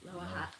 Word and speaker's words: Lower Hutt: Okay, so we Lower Hutt. Lower Hutt. Lower Hutt. Low Lower Hutt. Lower Hutt. Lower Hutt. Yeah, so like Lower as in Lower and Hutt is in Pizza Hutt.